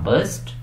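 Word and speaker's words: burst: Good, अगर तो आपने कहा बस्ट, एक्सीलेंट। और अगर अभी भी आप इसको ब्रस्ट पढ़ रहे हैं तो फिर इसको दोबारा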